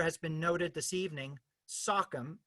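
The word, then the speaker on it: Sachem: been noted this evening sockum as it would have been pronounced by the tribes that historically lived in this region tonight speaking both as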